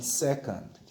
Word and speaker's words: second: n 무슨 말은 니은 d는 무슨 발음 디귿 근데 디귿 뒤에 아무것도 없으니까 근데 발음할 땐 드는 아주 약하게 거의 들리지가 않게 반응하셔야 돼요 둘째 하면 세컨드 세컨드 어떻게 적어요 second